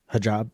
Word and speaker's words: hijab: Hijab? Hijab.